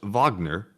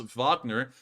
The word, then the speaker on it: Wagner: another 20 donation and says I believe it's pronounced Wagner named after the composer whose ideology inspired a